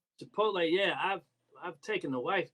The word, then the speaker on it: Chipotle: Applebee's, Chili's, Chilope. have you ever had? I know you a vegetarian. Have you ever had chilope before? Am I I've even saying it right? Chipotle, yeah, I've taken the wife there, and she